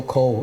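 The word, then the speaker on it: Kho: And our Chinese last name is pronounced Ko, K-H-O, Ko, in our local Suotao dialect or Teochew dialect.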